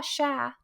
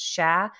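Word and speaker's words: cher: common to say Oh sha which is c-h-e-r like share which means deer but it's pronounced sha so Eddie if you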